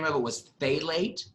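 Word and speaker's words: phthalate: name of it was fate late so it's say late but you spell it as P H P ap th a la te so like but he's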